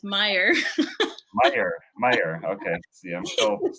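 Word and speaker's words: Meijer: I was calling the store Major until Greg said, "No, you're an idiot. It's You're Meyer, still not pronouncing it quite right. It's Meyer.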